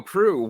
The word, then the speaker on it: Proulx: There you go, Proulx, Proul Jr., ladies and that gentlemen. So Hello, to the show. How are you? Yeah, thank you so much. I was going to be like Proulx or something.